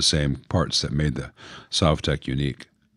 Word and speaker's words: Sovtek: parts that made the Sovtek unique. I know I keep going between Sovtek and Sovtek. Someone told me that it should be pronounced Sovtek because Soviet and how the Russians actually pronounce it.